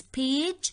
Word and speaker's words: page: So here the correct answer is page because we pronounce it softly as ja, not as ga.